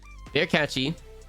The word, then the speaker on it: Versace: But Versace has no S in it. Okay. But then like different time zones pronounce things differently. So Verkachi, if you want the correct sound.